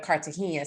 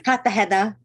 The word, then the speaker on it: Cartagena: will be from Cartagena I can't say it like you because I even I'm like I'm married to a Puerto Rican but even we both say it differently and I'm like what I think it's Cartagena so the mindful goddess